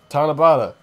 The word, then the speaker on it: Tanabata: passage oh wait I just remembered today is tanabata the jab that yeah that's how you say